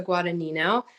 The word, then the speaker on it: Guadagnino: So kudos to you, as the G is silent. Part of my icebreaker tonight. So good evening, everyone. My name is Guadagnino, formerly known as